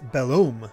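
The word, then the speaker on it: Belome: On occasion, you may see someone pronounce it Bellom. Bellom. But the proper way is Bellom. Take care to pronounce that O correctly.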